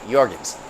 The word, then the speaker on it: Jorgensen: J's are pronounced as Y's, so Jorgensen.